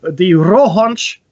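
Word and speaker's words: Rohonc: so let's start with the b-roll hunch which is it's a correct pronunciation in Hungarian the roll hunch codex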